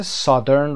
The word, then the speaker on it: southern: تلفظ southern رو دقت داشته باشید، میگیم south، جنوب، اما جنوبی رو میگیم southern، نمیخونیم southern. Remember southern.